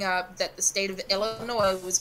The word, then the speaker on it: Illinois: to my mom and I said Illinois's and she goes wait what it's just ghost no sweetie Illinois mm-hmm it almost